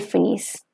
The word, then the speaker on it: finissent: Nous finissons, vous finissez, ils finissent, and elles finissent. The ENT towards the end, it's going to remain silent.